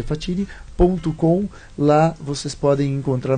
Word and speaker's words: Facini: de navio I Então facini que se pronuncia fatini pcom lá vocês podem